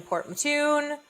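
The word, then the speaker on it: Port Mouton: Um, and started off in Port Matun. It's so weird cuz it's not that's just how they pronounce it, but it's it's spelled Port Mong.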